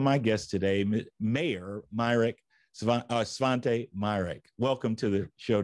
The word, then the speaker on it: Svante: of other people with the name Svante, or they pronounce it Svante.